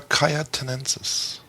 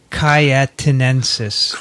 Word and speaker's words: cayetanensis: is caused by cyclospora cayotenensis cyclospora caiatinensis and that is spelled c-a-y-e like cayenne pepper yeah tanensis right and we have not